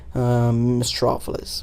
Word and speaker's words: Mistrofelis: This streamer Elijaz, he just pronounced it and I liked it and I kept it because for me it sounded Greek, sounded very like a philosopher like and whatnot, and I liked it. So now that's how my name is pronounced, Mistrofelis, or I should say my pseudonym.